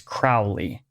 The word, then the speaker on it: Crowley: so black and white the names pronounced differently depending on where someone is in Great Britain and accents change over time so depending on where